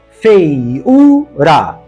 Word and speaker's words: feiura: acentuar agora veja só feiura feiura a sílaba tônica é esta o u é tônico formou iato com ditongo anterior e está sozinho na sílaba mas a palavra não é oxítona é paroxítona e por essa razão não